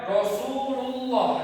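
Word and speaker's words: رسول الله: Jadi dia karena alif lamnya ber apa? domah. Jadi dia dibaca tebal. Nah, cara pembacaannya ialah semisalnya ini kan domah nih. Jadi dia cara pembacaannya Rasulullah. Jadi dia akan di ee lidah ini ditempelkan ke langit-langit atas.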